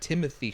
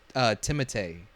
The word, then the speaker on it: Timothée: Apparently, he said in an interview that everyone's been pronouncing his name wrong. It's not Timothy Chalamet. It's Timothée.